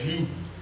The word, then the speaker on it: riz: pain le pain le riz le riz on ne prononce pas le Z on ne prononce pas